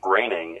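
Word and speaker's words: Groening: Navy no he wasn't yes he was Matt groaning was a nuke it's pronounced graining and no he wasn't come on haven't you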